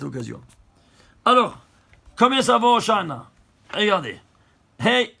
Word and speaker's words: Hoshana: Hoshana, Hoshana. Que les non-juifs, ils ont traduit, c'est intraduisible, mais ils ont gardé la prononciation. Ils ont dit Hosanna, Hosanna.